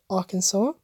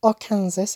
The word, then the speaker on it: Arkansas: I can tell anyway this one is Arkansas not Arkansas as it looks like it's all conserve a weird pronunciation for its buying Alaska